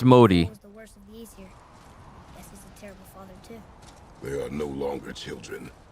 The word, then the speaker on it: Modi: got the name wrong it's not molded it's Modi they are no longer